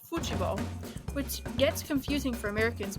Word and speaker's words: futebol: However, the word they use for soccer is football, pronounced futebol, which gets confusing for Americans because it leads